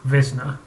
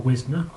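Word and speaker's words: Wisner: was CAU in 1948 Frank wizner or whisner depending on how you want to pronounce it then head of the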